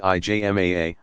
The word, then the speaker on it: ijma: the local community or to the consensus pigma pronounced ijma a of legal scholars but since some questions were